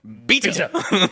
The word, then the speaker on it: beta: Because I love the delivery of that, because my favorite part is the English language, the second letter of the Greek alphabet is pronounced beta. Like Egg beater.